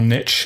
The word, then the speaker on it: niche: a too much of a niche or or niche in American pronunciation it was a bit